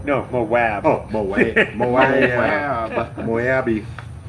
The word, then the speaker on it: Moab: Moab. I'm from Moab. Is that with a W? My name's with a W. No, Moab.